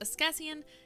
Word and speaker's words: Askesian: So, my stream name is Askesian, and my friends make jokes because I say things like, hey guys, this is pronounced Askesian, and everyone types Ask Science because it's what my username looks like, but it's Discussian. I promise.